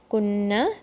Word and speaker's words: كنا: There's a maddiya letter here. كنا, there's no shadda here.